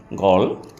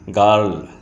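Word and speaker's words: girl: ল তাহলে কি হলো গল গল আমরা এতদিন বলতাম কি গার্ল গার্ল না গল তাহলে উচ্চারণটা হলো কি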